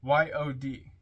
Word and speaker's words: yod: not N9 comment on yod y o d pronounced yod transcribed as I or